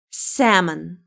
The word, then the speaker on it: salmon: Uh, it's salmon. L is silent here. Salmon.